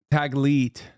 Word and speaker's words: Taglit: It's Tagli, is it? I don't know how to say it. Taglit? Taglit, sorry. I mispronounced it.